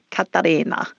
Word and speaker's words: Katarina: It's fun to hear you say it when you put the Italian accent on. All right. Katarina.